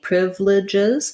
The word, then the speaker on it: privileges: And I believe you can pronounce it with 4 syllables, but Americans will typically pronounce it with just 3, privileges.